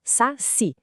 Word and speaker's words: saci: Por exemplo, saci. A força está no si.